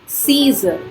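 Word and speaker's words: Caesar: सीजर, इसमें ये वाला ए साइलेंट है।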